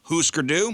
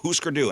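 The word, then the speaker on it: Hüsker Dü: Husker Du. With or without the scooter stick. So Husker, H-U with the umlauts over it, S-K-E-R, and then space D-U with the umlauts over it. Husker Du, and it's my son Sam.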